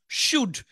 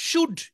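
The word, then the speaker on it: should: ও ইউ এল ডি শুড এই এল টা উচ্চারণ হবে না আই শুড ইট আই সুড ইট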